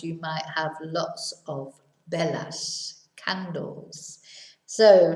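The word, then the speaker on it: velas: might have lots of bellas candles so remember that the v is a sort of half b sound it's very important not to pronounce it as a b i know a lot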